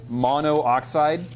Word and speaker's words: monoxide: By the way, a lot of times we'll skip the last syllable of mono. We'll just say mon instead. So, and tetra sometimes gets its A skipped too. But if you say monoxide, no one's going to care.